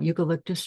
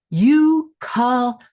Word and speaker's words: eucalyptus: Eucalyptus, my mother and sisters would enunciate to me over and over. It's not clear when I finally pronounced all 4 syllables like the French botanist, but as a small